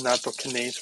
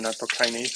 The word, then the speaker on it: nattokinase: Natto, yes, it has nattokinase or nattokinase, however you want to pronounce that.